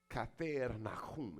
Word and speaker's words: Capernaum: Capernaum. Kafer Nahum, if I say it like I was, Hebrew.